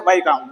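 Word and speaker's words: Viscount: ये एक अंग्रेज थे, वाइकाउंट वावेल, VIS, लेकिन इसकी प्रोनाउंसिएशन है वाइकाउंट, वाइकाउंट वावेल।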